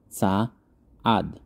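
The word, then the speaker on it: צעד: со словом сторона цад Там просто один слог здесь два слога ца ад поэтому ударение на первый слог цад умноженное число шаги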